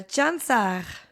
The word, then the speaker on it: chancer: Ouais, effectivement, il y a Chancer, écoutez, ça se prononce comme chance avec un R.